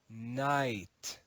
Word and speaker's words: night: have been read as kanigut however in Modern English the first letter K is silent the long e in